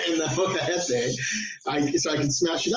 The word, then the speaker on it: molcajete: The molcajete. Now you say it right. In the molcajete, so I could smash it up to make the cocoa powder or cacao powder.